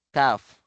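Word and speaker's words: ك: Qof Qof at yung sumunod sa kanya maiksi. Caf kaf kaf lam mim nun ay ha.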